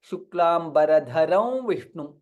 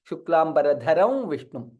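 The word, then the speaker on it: शुक्लाम्बरधरं विष्णुं: When we are chanting, we chant it as Shuklam Baradharam Vishnum. We don't say ma fully. Shuklam Baradharam Vishnum.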